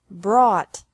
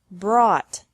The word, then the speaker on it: brought: is the same bring brought brought by bought bought catch caught caught fight fought fought seek sought sought teach taught taught think thought thought remember that the G is silent in these verbs verbs with three different